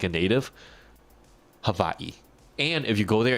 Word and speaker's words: Hawaii: It's actually pronounced with a V. So, Havaii. Havaii. Yes. For everyone, if you ever go there and you want to sound like a native, Havaii.